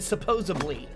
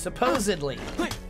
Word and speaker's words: supposedly: It's not how you say it. It's presumably, and that and supposedly and supposably. It's supposedly.